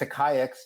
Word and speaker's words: AquaX: So the hardest thing to understand about our company is how to pronounce it. It's AquaX. You did very well, by the way, for someone who's never seen the name before. It's a contraction of Aqua and AI and Exchange.